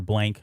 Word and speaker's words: Blanc: and then you had mel blanc or blank i guess that's how he i think how he pronounces his name mel blank uh infamous mel blank